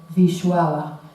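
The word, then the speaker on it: Wisława: que por cierto e he intentado averiguar cómo se pronuncia el nombre en polaco y es Vishuava, pero yo Voy a decir Bislava porque me va a costar mucho decir su nombre, o sea, con el sonido polaco, ¿no?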